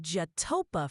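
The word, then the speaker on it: Chetopa: How do you say those towns, like the locals? All right, Ryan, you're looking at Jatopa for Chitopa and Oswego for Oswego. Nothing fancy, just how the locals say it.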